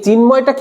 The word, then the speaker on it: চিন্ময়: আমি কি এইভাবে বলছি চ চ ন ম য় এইভাবে উচ্চারণ করছি? না, আমি উচ্চারণ করছি চিন্ময়। চিন মানে কি? এক, মানে এক নিঃশ্বাসে আমি উচ্চারণ করতে পারছি চিন একটা শব্দ, ময় একটা শব্দ।